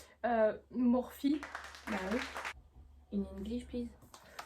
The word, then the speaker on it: Morphe: Tu sais que ça se dit pas Morph mais ça se dit Morphe.